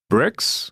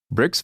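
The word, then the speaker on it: Brix: these tasks and roles bricks which is spelled BR R iix bricks values are a way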